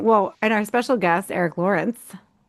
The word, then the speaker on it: Erick Lorinc: Um well, and our special guest, Eric Lawrence with us. Yeah, thanks for pronouncing it correctly.